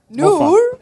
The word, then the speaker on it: Noor: No, now you're saying it like proper. Say it like how you see. If I'm sitting there, how would you call me? No, you imitate me. Noor.